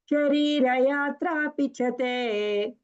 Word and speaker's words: शरीरयात्रापि: Ma'am, In English, we write S, but actually, in that sa will be pronounced as two. Only one sa is normal. Other sa is pronounced as sha only.